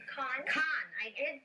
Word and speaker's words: Khan: Khan. I did pronounce it properly.